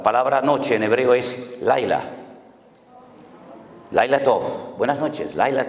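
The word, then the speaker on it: לילה: Ya sé que les causa risa, pero es que estoy pronunciando la palabra sol. Shimshon, sol. Y Dalila, la palabra noche en hebreo es Laila.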